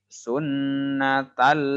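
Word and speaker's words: سُنَّةً: Di sini harusnya ada tasdid, Bapak kelewat tasdidnya. Jadi cara bacanya usolli sun, tahan dulu, ada tasdid. Setiap ada tasdid itu ditahan dulu 2 harokat ya.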